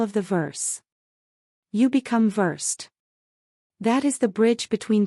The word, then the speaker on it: Versed: Second, the brand name is Versed. It is spelled the same as the real English word versed, but it is pronounced differently here.